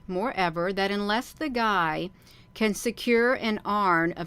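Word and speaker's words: Gy: they they got a capital G and a small y they it's pronounced guy for the females and finally at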